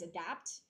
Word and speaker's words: adapt: The A one is adapt, and then the O one is adopt. Okay.